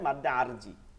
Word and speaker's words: মাদ্দে আরজি: আরদি দোয়াদ, এটা উচ্চারণ হবে মাদ্দে আরজি, ঠিক আছে?